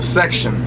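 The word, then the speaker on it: Sextion: Now, on the second CD, there's The Section. It's spelled S-E-X-T-I-O-N.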